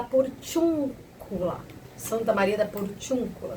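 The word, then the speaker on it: Porciúncula: Cula, Santa Maria da por tiúncula se pronuncia assim, tá bem?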